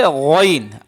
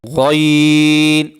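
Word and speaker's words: غين: গইন অক্ষরটা হলকের শেষ ভাগ হইতে, গলার শেষ ভাগ হইতে, হলকের শেষ ভাগ হইতে গইন অক্ষর উচ্চারিত হয়। শেষ ভাগ থেকে গইন অক্ষর উচ্চারণ করতে হয়।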